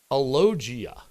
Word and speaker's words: alogia: them that said that alogia what's am I pronouncing that right yeah is not talking diminish